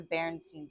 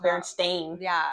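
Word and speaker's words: Berenstain: one because like it's for sure the Baronstein bear. Not Baron Stain. It's Stein.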